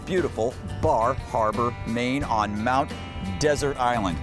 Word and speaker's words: Mount Desert: on Mount desert island oh I I think it's was called desert no I I've heard it was called desert no I'm pretty sure there's some history dessert even though it's well you know it's up for a debate but we'll find out